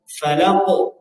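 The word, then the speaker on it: فلق: ada dicatatnya di bawah dijaga pengucapan tebal tipis pada khalaq dan Falaq nah dijaga Nah itu sudah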